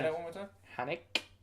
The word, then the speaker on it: Haneke: Haneke. I'm pronouncing the E at the end as well.